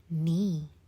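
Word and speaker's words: knee: 볼게요 크나이트 아니고 그냥 night night 밤이란 단어랑 발음이 똑같죠 그다음에 크나 아니고 그냥 나이프 크니 아니고 니 니 무릎이란 단어고 아니고 그래서 우리 the door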